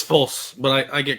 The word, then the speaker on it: Fulce: False. Yes. It's pronounced false, but I've been called